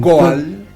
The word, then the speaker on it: goal: Han goal. Claro, que se pronuncia go, pero está escrito en inglés.